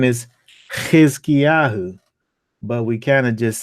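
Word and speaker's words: חִזְקִיָּהוּ: To pronounce the Chet, so you're saying the H sound with your mouth open while blowing a raspy sound from the back of your throat.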